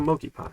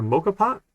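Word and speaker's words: moka pot: little mochi it's a monkey pot right yes oh this thing is amazing mocha in a mocha pot not a milky pot mocha pot i've been saying it wrong a mocha pot these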